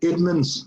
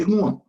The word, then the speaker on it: Edmonds: He was And he said to me, Edmonds, or he used to call me Egmont, because he couldn't pronounce my name, Egmont.